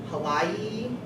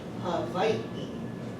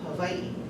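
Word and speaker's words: Hawaiʻi: I've heard it said Hawaii, Hawaii, Hawaii, all kinds of different ways, but the correct pronunciation is Hawaii. See, there's that glottal stop right there, there's that okina. So it's actually Hawaii.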